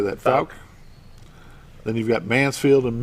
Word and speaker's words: Fouke: Fouke.